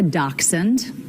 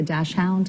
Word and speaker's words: dachshund: Then the dog a dachshund. Have you ever heard anybody say a dash hound?